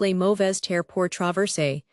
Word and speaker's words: Les Mauvaises Terres pour Traverser: French fur trappers later echoed that feeling, dubbing it Les Mauvaises Terres pour Traverser, pronounced Les Mauvaises Terres pour Traverser, which means Badlands to travel through.